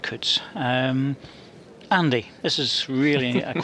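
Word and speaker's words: Coutts: I'd expect this to be over this end, and we've had another interesting question here with Alan Cutts, or maybe it's Cutts, C-O-U-T-T-S. We would pronounce that Cutts.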